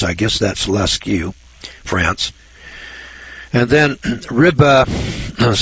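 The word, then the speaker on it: Lascaux: Uh, Leu, France. That's spelled L A S C A U X. I guess that's lu France.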